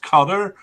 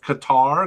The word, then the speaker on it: Qatar: And then the fourth team is, it's supposed to be pronounced Qatar, but we're going to pronounce it kind of Qatar because that's what English speakers generally use.